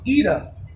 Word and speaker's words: Ida: yeah so the that it's called ida but it's pronounced eda now eda means uh